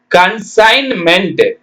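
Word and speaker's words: consignment: ஆனால் உச்சரிக்க கூடாது அடுத்தது கன்சைன்மென்ட் கண்ணு சை இன் மென்ட் ஜி ஜி எழுதணும் உச்சரிக்க கூடாது சி ஓ என் கண்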